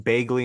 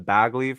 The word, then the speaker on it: Bagley: to butcher them like I've been saying bagely instead of bagly for the last like